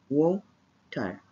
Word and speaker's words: water: There is no O in the spelling of water, but these two letters, WA, pronounce wo. So, water.